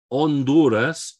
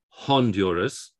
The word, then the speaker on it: Honduras: as a w and honduras we're not pronouncing that h no h's get pronounced so it's not honduras which is what we have what we'd have in english we pronounce those h's or we sometimes do